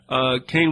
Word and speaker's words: Kahn: He pronounces it Kane, it's K-A-H-N.